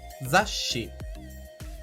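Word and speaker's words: ざっし: E em seguida, um chisaitsu, que tem a função de mostrar que há uma pequena pausa, como uma respiração rápida, antes de pronunciar a próxima sílaba.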